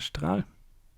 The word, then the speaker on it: Strahl: We have a Smuggler's Copter, also known as the Strahl. And yes, I'm pronouncing it the German way, because I can.